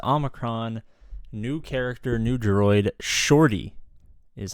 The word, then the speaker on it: Shorty: Is your Coruscant Underworld Police Chief APGAINS, Conquest Omicron, new character, new droid, Shorty is how you pronounce it.